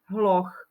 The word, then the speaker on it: hloch: oku máme slovo hloch Píše sa to z H na konci je h a h patrí medzi párové znelé spoluhlásky ale vyslovuje sa to ako ch hloch ako párová neznelá spoluhláska